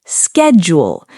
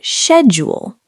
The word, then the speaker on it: schedule: In American English, you'll often hear schedule. In British English, many people say schedule. Both are correct.